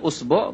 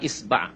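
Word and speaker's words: إصبع: ওয়াজআলু উসবুআইহি ফি উযনাইহি, উসবু বা ইসবা বা ইসবে বিভিন্ন ভাবে উচ্চারণ করা হয়েছে, আঙ্গুলকে বলা হয় ইসবা, ইসবাটা বেশি প্রসিদ্ধ।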